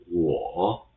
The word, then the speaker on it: 我: So this 我, this W will be pronounced as the same as English word. This O will be pronounced as AW in the English word saw. So combine them in one syllable, it will be 我 with the third tone.